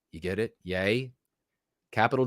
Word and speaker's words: Ye: spelled capital Y lowercase e you get it yay capital D capital S pronounced yades the yay derangement syndrome part of